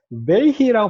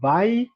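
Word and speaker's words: וַיְהִי: 자, 이거 베히라고 발음하는 거 바예히. 이거를요, 이거를 잘라서 읽어야 돼요. 이게 왜냐하면 이게 내가 가르쳐준 그 문법 쉐바 앞에 단모음 있으면 묵음 쉐바라고 해서 바이히라고 발음할 것 같지만 이게 원래는 중복 다게시가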